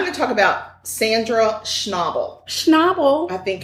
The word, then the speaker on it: Schnabel: going to stumble over snobble every time cuz I want to say schnable but it's not Schnabel are you sure I'm